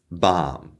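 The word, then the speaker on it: balm: say it that said the majority of the english- speaking world will say these words without the L in it so I'm from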